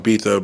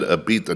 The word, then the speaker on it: Ibiza: I'm gonna finish off in Ibiza because I want to see if they party as hard as Mykonos.